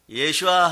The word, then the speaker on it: 예슈아: 예슈아 하면은 한 단계 더 나간 거예요. 그걸 발음을 잘해보세요. 예슈아가 맞아요.